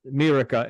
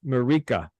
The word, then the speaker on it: Mirika: If the people heard how I was pronouncing your name in the beginning, it's not Mirika, it's Mirika.